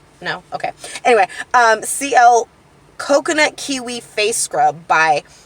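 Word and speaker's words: Sea-El: So the face scrub that I use it's spelled Seal, but it's spelled S-E-A. Then there's a hyphen E-L. So it's like C, like C. Get it? Right? No? Okay. Anyway, CL Coconut Kiwi Face Scrub by iHerb.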